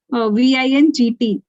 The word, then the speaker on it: vingt: VINGT. What is okay. We don't pronounce T. We pronounce still V.